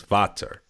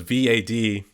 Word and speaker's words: Vater: Yeah, it is based on preference, but you're saying it wrong. It's Vater. It's a German, so.